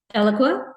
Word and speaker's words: Eloqua: I talked to manjula about this I always mispronounce the company name did I say it right eloqua yeah okay um so what was your experience